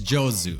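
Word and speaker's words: 上手: But when it's put next to another kanji, it is now pronounced jo. Like this kanji is jozu.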